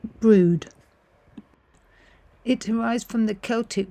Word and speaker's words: Brewood: The name of this village is actually pronounced brood.